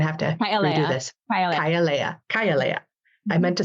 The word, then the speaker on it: Kay'aleya: I always say your name wrong. Say it for me. I'm going to have to redo this. Kay'aleya.